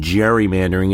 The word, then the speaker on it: gerrymandering: Not only has he lost his political dignity in history, but But Gerry lost the hard G in his name, and gerrymandering is now an international term for a crime against democracy.